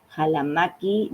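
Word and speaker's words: Ccalamaqui: Jalamaki. Estoy diciendo con la fonética quichua porque se escribe con dos centuras e que fue quien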